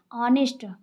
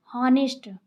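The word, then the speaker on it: honest: जैसे कि हम कुछ एग्जांपल्स पढ़ेंगे, ऑनेस्ट, हॉनेस्ट, हॉनेस्ट, ऐसे स्टार्ट है बट हा इसका क्या है, साइलेंट है, हम इसको क्या पढ़ते हैं, ऑनेस्ट, हॉनेस्ट।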